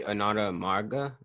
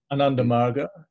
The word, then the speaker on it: Ananda Marga: it definitely is um is this so specifically anatoma is that how you pronounce it ananda uh anandamarga ananda marga um what led you down that